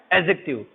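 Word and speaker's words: adjective: जब डी के साथ जे आता है तो क्या होता है, डी साइलेंट होता है, तो इसे क्या बोलते हैं अपन, एडजेक्टिव। यहाँ पर इसे बोलेंगे एडवर्ब, क्योंकि यहाँ पर जे नहीं है, इसलिए यहाँ एड का, डी का प्रोनाउंसिएशन हो रहा है।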